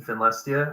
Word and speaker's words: Finlestia: Are all of these in Finlestia? I think you pronounce it that way, right?